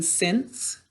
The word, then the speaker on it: since: Class, how do we make our k, say s in since?